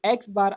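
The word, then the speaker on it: x̄: आपको कहा कि जो एक्स बार आपको नज़र आ रहा है, ठीक है, जो एक्स के ऊपर जो लाइन है इसको हम किस तरह से प्रोनाउंस करते हैं, इसको हम एक्स बार कहते हैं, ठीक है।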